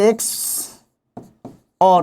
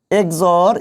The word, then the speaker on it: XOR: বলা হয় এক্স অর এটার উচ্চারণ আপনি এভাবে এক্স অর এভাবে উচ্চারণ করতে পারেন এক্সর এভাবে উচ্চারণ করতে পারেন